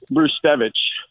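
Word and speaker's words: Brzustewicz: pronunciation of that gentleman b r z u s t e w i CZ remember that yeah yeah you pronounce it bruevich Bruce what did bla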